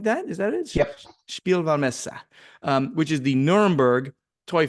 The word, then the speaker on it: Spielwarenmesse: It's got this crazy German name that you have to be German to pronounce. It's Spielwarenmesse, something like that. Is that it? Yep. Spielwarenmesse, which is the Nuremberg Toy Fair.